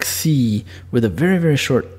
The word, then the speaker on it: xi: It's pronounced xi with a very, very short x, and it sounds, you know, almost like ecstasy without the e at the beginning or the ta in the middle. So it's xi, and this letter is